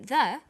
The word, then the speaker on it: the: When the comes before a vowel sound, we say the apples. So the before vowel sounds and the before consonant sounds.